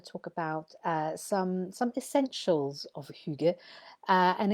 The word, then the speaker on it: hygge: But it's pronounced Hygge.